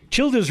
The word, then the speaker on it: Childers: Childers rhymes with builders.